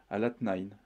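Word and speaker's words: الاثنين: Et en arabe, lundi se prononce alatnain.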